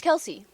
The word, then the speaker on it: Kelce: Him, Travis Kelce. Yeah, it's Kelsey.